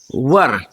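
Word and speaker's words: were: Second form है वाज एंड वर। इसको कहेंगे वर। कई लोग इसको वेयर पढ़ते हैं। सही प्रोनाउंसिएशन है वर।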